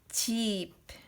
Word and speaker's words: 집: And then, for example, 집. 집 is house. House in Korean is 집. But this pronunciation is 지읒 is J, but E is I, and ending consonant 비읍 is P.